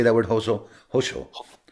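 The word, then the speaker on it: hózhó: Hoso.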